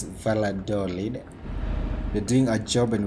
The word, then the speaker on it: Valladolid: valladolid here in spain is it valentine because maybe i'm wrong it's valador yes because sometimes you may pronounce and someone will be like i've never heard of that city it's it's valladolid we're doing a job